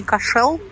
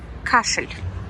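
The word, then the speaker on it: Cashel: еланского весь кашина кстати правильно говорить не кашел не пошел а кашель прям как кашель домой к шлем кашель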